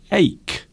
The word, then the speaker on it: ache: And there is one word I want to correct you on: ache.